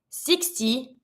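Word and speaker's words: soixante: so in this one remember six is six I turn my X into a s for 60 I'm going to be saying the X like a s 60 and here we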